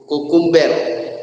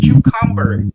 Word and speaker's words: cucumber: Kukumber. Oke ya. Bacanya bukan kukumber ya tapi cucumber ya.